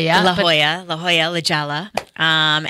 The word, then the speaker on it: La Jolla: College Ella oh yeah I kept say I'm but it's La Jolla La Jolla La Jolla